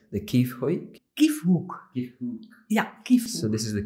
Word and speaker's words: Kiefhoek: the uh one of the i correct my pronunciation the key foic yeah so this is the key for social